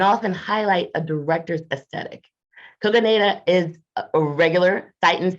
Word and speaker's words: Kogonada: He's going to let me call him K so I don't mispronounce his name. Okay, Kogonada, did I get it right? Yes. That's perfect. Yes, Kogonada.